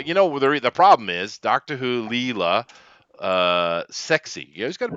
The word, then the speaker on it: Leela: Leela. Leela. Yeah, I knew it was an L. Oh, Leela. Leela. Is it Layla? I knew you were right. They may have pronounced it Layla because it's Britain and they do things weird,